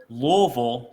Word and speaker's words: Louisville: Louisville, that's how locals say it, by the way. Right. Louisville, it's that Kentucky tongue.